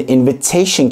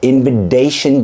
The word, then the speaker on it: invitation: var o da şu Eğer iki harfin arasına gelip vurgulanan bir hecenin başındaysa o zaman yine de T gibi telaffuz ediliyor örnek invitation şimdi invitation kelimesindeki duyduğunuz T sesi invitation değil Neden değil Çünkü Evet i ile A'nın arasına geldi t ama t harfi vurgulanan bir hecenin başında invitation invitation Water da öyle değil